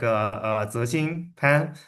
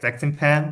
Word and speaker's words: Zexin Pan: Yeah, my name is, well, I mean, like, so the true pronunciation is like Zexin Pan, but I usually just pronounce it like Zexin Pan because I think it's easier for the English speaker to pronounce it.